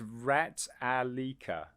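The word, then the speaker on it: Ratalaika: a hard time pronouncing we call it rat we just call it rat games but it's rat alika so rattle Iker the publishers and bugs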